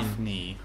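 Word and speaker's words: Daphné: Daphne, is it Daphne or Daphne? Daphne.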